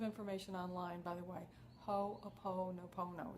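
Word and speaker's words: Hoʻoponopono: Hooponopono, it's all O's in there. In fact, it's, I'll spell it for you. It's H-O, and then there's an apostrophe, P-O-N-O-P-O-N-O, Hooponopono. Actually, I don't have it right here. It's H-O apostrophe O-P, all right, Hooponopono.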